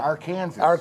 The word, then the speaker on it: Arkansas: country pigs Oklahoma Arkansas yeah Arkansas our Kansas that's the way it's spelled good job Jimmer all